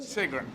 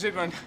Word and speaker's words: Sigrun: And what Sigrun, and I should pronounce the first letter of your name as a Z, shouldn't I? Sigrun, as opposed to Sigrun. Well, you pronounce Sigrun. I would pronounce it. Well, the S is fine. It's just how long. But if it's German, everyone else will call you Sigrun, yeah? Yeah. With a Z sound.